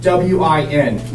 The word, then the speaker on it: Nguyen: For some of you who do not know me, my name is Nguyen, Nguyen, and it's pronounced simply W-I-N, Win.